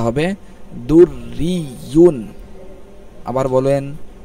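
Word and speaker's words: دُرِّيٌّ: এইভাবে উচ্চারণটা হবে দুররিয়ুন। আবার বলেন দুররিয়ুন, দুররিয়ুন।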